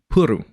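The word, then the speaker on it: プル: FYI, in Japanese, play, PLE, which is the first thought, is pronounced puru, which makes sense because it sounded like they'd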